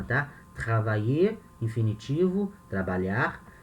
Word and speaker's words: travailler: Quando o verbo termina em ER, a pronúncia do verbo no infinitivo e do verbo no particípio é a mesma, tá? Travailler, infinitivo, trabalhar.